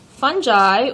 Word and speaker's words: fungi: Fungi, or fungi, however you want to pronounce it, are eukaryotes.